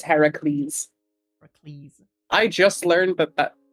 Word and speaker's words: Heracles: Like, that's Hercules, but isn't that the Roman pronunciation? Aren't we going for the Heracles? Yeah. Different. It's Heracles.